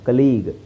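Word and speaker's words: colleague: ಕಲೀಗ್ ಕಲೀಗ್ ಜಿ ಅಲ್ಲಿ ನಿಂತ್ಕೊಳ್ಳುತ್ತೆ ಕೊನೆಯ sound ಕಲೀಗ್ ಸೋ ಕಲೀಗ್ ಯು ಅಂತ ಹೇಳೋ ಅವಶ್ಯಕತೆ ಇಲ್ಲ.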